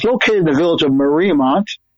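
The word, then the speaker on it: Mariemont: Community Church it's located in the village of Marmont. How do you say that? I think that's right. Marrymont. Marrymont. Marrymont.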